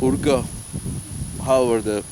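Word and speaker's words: Uyghur: Urga, they pronounce that.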